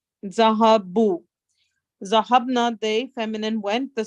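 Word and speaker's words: ذَهَبُوا: The alif after the waw is not pronounced. Zahabu.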